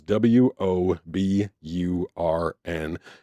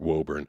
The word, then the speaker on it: Woburn: up and it was w o b u r n. And that obviously looks like Woburn, like definitely looks like Woburn. But for some reason or another, it's called Woburn.